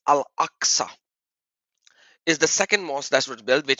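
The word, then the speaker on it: al-Aqsa: and then masul ax it is axa to to really pronounce it in the Arabic properly it's al axa is the second mosque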